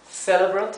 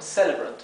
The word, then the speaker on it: celebrant: So, if you want to pronounce it more like American English, you can read this as a Spanish E. If you want to pronounce it more like British English, you can pronounce this more like an A, right? Celebrant or celebrant, okay?